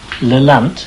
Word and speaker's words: Lelant: Phyllis Badcott in Lelant, is that how you pronounce it?